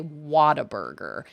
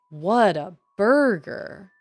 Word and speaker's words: Whataburger: I've heard um a lot of people say Whataburger but it is definitely spelled what a burger and in their ads they say what a burger so it's like what a burger but I've